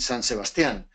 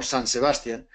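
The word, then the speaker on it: San Sebastián: And we, after visiting another famous Basque city, San Sebastian, we pronounce it San Sebastian, you pronounce it more San Sebastian, we go to Saint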